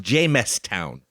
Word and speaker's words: Jamestown: And by the way, Tony, it's pronounced Jamestown. No, it's not. No, just messing with her.